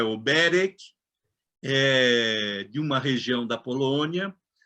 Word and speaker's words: Oberek: Oberek, a pronúncia é Oberek, de uma região da Polônia.